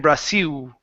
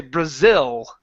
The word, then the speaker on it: Brazil: In Braasil, okay? You're you're using an sound. Okay? Instead of Brazil, it's like if I were to say it, I would say Brazil.